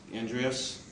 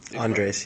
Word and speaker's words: Andres: Then I could ask Andreas, am I pronouncing? Andres, yeah.